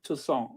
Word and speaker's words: Toussaint: The NT is silent. Toussaint. All right. No, no, actually, the T is silent.